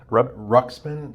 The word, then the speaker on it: Ruxpin: Ruxpin.